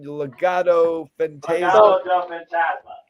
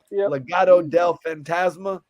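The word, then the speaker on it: Legado del Fantasma: group uh how do you say their name Legato Fantasia Legato Del fantasma yeah yeah Legato Del phantasma yeah so if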